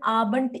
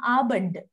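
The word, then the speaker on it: Abend: a good evening see I did not say guten aband I say guten abant abant when is D comes end of the word you have to pronounce like T Gooden abant Gooden talk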